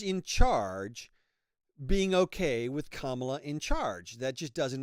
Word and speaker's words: Kamala: You wouldn't call somebody who's named Pamela. It's Kamala, okay? Otherwise, you're racist. No, Kamala really, Kamala, I can't say her name right.